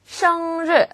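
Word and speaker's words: 生日: 뜻이에요 더 당신 의 시르 발음 주의하세요 리처럼 들리지 않게 르라고 발음합니다 시르 생일이란 뜻이죠 더르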